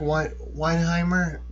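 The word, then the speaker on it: Weihenmayer: it's the No Barriers conference and I'm gonna mispronounce his last name, but Eric Weinheimer.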